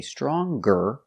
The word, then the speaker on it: stronger: not strong but strong if I change strong with e r and compare and say stronger then we pronounce the G stronger he is stronger than his brother and with est strong guest again we pronounce the G sound he is the strongest